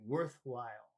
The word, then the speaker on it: worthwhile: when you have two words together, it's the first word is usually the one that has the emphasis. So you put more emphasis on the word worth, and you say worthwhile.